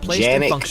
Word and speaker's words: Canik: Some people pronounce it Janik, but that's how they pronounce it in Turkey.